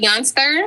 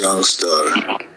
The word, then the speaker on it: Youngstar: We're going to start with Youngster. Is that pronouncing your name right? Youngster? It's Youngstar. Youngstar.